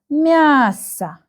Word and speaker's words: мясо: The first syllable is stressed. МЯСО. МЯСО. And the last syllable, the last letter is letter O. You can see that this is letter O, but in Russian we have a very nice reading and pronunciation rule. If the letter O is not stressed, you can see that there is no stress mark here, then we pronounce it like A.